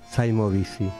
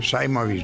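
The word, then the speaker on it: Saimovici: Gracias, Marcos, y seguimos disfrutando de este diálogo exquisito con Saimovisi, pronunciado en español. Sí, señor. Bueno, todos me llaman así. Sí. Saimovich ya quedó allá en la lejos. época Rumania, sí.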